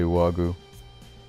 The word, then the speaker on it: Juaggu: you want to say I said the J is silent so I just say Wagyu but yeah there is